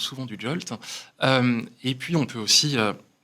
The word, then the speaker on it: JWT: On peut utiliser des jetons JWT, qu'on appelle souvent du JOLT. Ça se prononce souvent du JOLT.